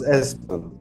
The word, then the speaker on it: Espen: Yeah, it's Espen.